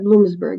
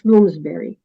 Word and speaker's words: Bloomsbury: was published by Bloomsbury you said Bloomsburg it's bloomsberry sorry yeah it's okay I